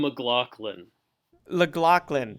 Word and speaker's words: McLaughlin: get that right on the podcast it's mlin llin okay that's right okay thanks for joining us